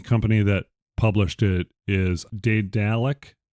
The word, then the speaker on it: Daedalic: The company that published it is Daedalic, Daedalic. because it's like an adjectival form of Daedalus.